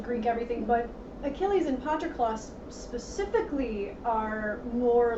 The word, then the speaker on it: Patroclus: And there's the two characters, Achilles and Patroclus.